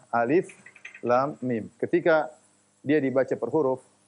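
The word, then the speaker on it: الم: Makanya tidak dibaca alam, tetapi dibaca alif lam mim.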